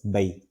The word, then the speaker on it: Mbay: Well, in Wolof, it's Mbay. Okay. It's like a kind of silent-ish M. Mbay, which means to cultivate in Wolof.